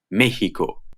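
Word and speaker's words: México: Most of the time it is pronounced x, like English, but there is another pronunciation, h. You will only hear this pronunciation in proper nouns and words derived from proper nouns, like Mexico and mexicano.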